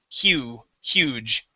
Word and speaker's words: huge: So we do pronounce the H and we say he, oo, hew, huge.